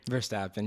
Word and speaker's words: Verstappen: But before, we also have to mention that Max Verstappen, did I say his name right? Verstappen, you got it.